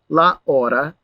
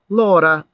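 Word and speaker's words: l'ora: sound k next example the hour or the time so it's not la order okay it becomes lora and pluralized it's it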